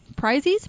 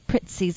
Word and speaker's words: Prizzi's: seventh was Prizzi's honor prizes no I know but the way you pronounce it Prizzi's honor thank you gotta be